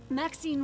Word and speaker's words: Maxine: of most exquisite varieties maxine rhymes with queen after all and dearest that is